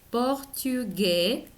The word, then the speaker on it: portugais: Un garçon, esta C se pronuncia como una S, garçon, portugais, y la A y la I, igual que en français, se pronuncia como una E.